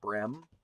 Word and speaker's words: Brehm: little research this time his name seems like his name is pronounced Ryan bream he is he just